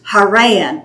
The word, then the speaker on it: Haran: But I found that almost all the names and places put the emphasis on the second syllable. It's Terah, it's Haran, it's Shechem.